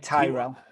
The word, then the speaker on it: Tyrell: okay so okay so me say name is t y r e double l it's like tyrell that's how i've said